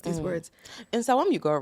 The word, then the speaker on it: Nsawam: in places like, you can correct my pronunciation, Nsawam, Koforidua, Koforidura. Sure. I'm really trying. Like, I learned, like, yesterday I was sitting there like, let me learn how to pronounce these words. In Sawam, you got right.